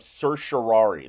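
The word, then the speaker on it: certiorari: to know it is a term called RIT of curari that's how that's pronounced by the way curari is you're asking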